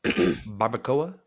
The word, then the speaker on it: barbacoa: I haven't had the beef barbacoa. Is that how you pronounce that?